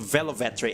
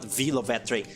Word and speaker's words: Velvetree: You know, sometimes even I forget that my name is supposed to be pronounced Velvetree and not Vovetree just because of how everyone says it.